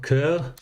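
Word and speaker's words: cœur: It's pronounced coeur.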